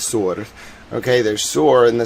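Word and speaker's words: Tyre: Um there's like um Sur, which is spelled T Y R E. It's not Ty, it's Sur.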